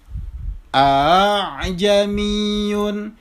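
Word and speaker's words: ءَأَعْجَمِيٌّ: Yang benar bacanya adalah a'jamiyun. Jadi huruf alifnya itu di musahhala, ditashil. A'jamiyun wa arabi. Jadi bukan bukan juga a'jamiyun, bukan. Tetapi caranya adalah dengan cara ditashil.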